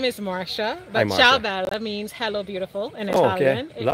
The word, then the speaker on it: ciao bella: Everybody says Caio Bella, but okay. Italians know. Oh, okay. So what? It's how do you pronounce it correctly? Ciao Bella.